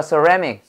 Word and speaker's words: ceramic: 세라믹 아니야. 뭐라고 영어 발음? ceramic.